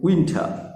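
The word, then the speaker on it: winter: আর একটু আগে বললাম টর উচ্চারণটা সামান্য ঠর মতো আনবে, উইন্টার। ওকে, আর শেষে রটা উচ্চারণ করব না, উইন্টার।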